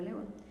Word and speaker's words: león: Y pues cuando son palabras agudas, que identifico los que son agudas es porque su sílaba tónica es la última. On es la última sílaba de la palabra león.